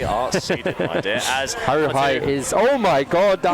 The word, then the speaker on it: Haruhi: And I was like, how do you pronounce this? Is that Haruhi? Haruhi, it's yeah.